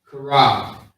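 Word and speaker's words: Charab: So we got the C-H-A-A-R-A-B. Okay? Karab. Is how you say it quickly.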